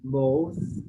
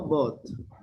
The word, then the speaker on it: both: same with th months both remember both no both but i'm talking about bot you said boot is but this is both let me see this